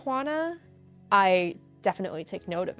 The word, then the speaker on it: Juana: I know that it's pronounced Hana, right? But most people say wanna like most people turn it into a W sound like this Americanized wana type of thing, which I don't care.